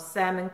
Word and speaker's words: salmon: and she's cooking up salmon crochet crow and she's cookies and I'm so focus on not pronouncing the L in salmon that I'm messing up